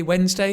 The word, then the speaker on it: Wednesday: This is a double whammy because we kind of drop the d sound and then the ne becomes n. Wednesday and it's a z, not a s.